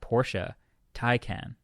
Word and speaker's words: Porsche Taycan: Porsche Taycan is the way I'm supposed to be saying it.